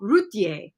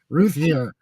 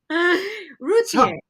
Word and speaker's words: Routier: I guess the worst way to say it is the American way. Ruth here. so Routier.